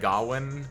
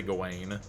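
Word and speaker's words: Gawain: I I like pronouncing it gwin because the green knight said Gowwin, even though I think more people say gone, Lanclot, Betavir, Tristan, Gareth.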